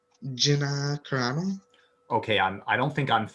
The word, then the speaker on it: Carano: How do you pronounce her name? Gina Carano.